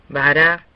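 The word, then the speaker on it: ברא: Bara se separa en 2 sílabas. Esta palabra no tiene ninguna marca en particular, por lo que la última sílaba de bara sería subrayado. Al leer bara tendría una pronunciación casi exacta. Bara.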